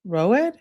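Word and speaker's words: Rød: Rod or rowed. Tier Rod is a nor it's Norwegian pronounced Ro rowed.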